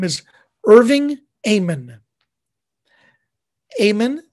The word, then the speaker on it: Amen: this artist the artist's name is irving amen amen spelled like amane spelled the same way a-m-e-n irving